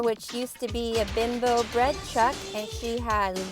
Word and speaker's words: Bimbo: the heck is a bimbo bread truck well bimbo is a giant bread company in mexico and it's actually pronounced bimbo and it is so big this mexican company